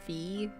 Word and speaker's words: Vi: I feel really dumb that I pronounce it V when it's really spelled like Vi.